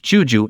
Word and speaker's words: Guizhou: The area was first organized as an administrative region of a Chinese empire under the Tang, when it was named Guizhou, pronounced Juju in the Middle Chinese of the period.